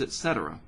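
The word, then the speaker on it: et cetera: years ago was saying it's not etc it's etcetera i try to be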